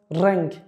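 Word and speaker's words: reng: You notice the sound, the short one? Rang, which means color.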